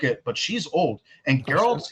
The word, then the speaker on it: Geralt: And Geralt's like 74 or something like that.